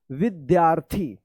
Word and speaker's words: विद्यार्थी: उससे पहले वाले अक्षर के बाद जो है ना आधा र का उच्चारण करना है। ठीक है, जैसे क्या पढ़ेंगे? इसको विद्यार्थी।